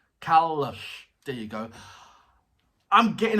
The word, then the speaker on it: Kalush: Kulash is a Kalash. Sorry, Kalush. Kalash. It's not lash. Lush. Kalush.